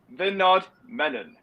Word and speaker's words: Vinodh Menon: Because, ladies and gentlemen, I give you Vinodh Menon.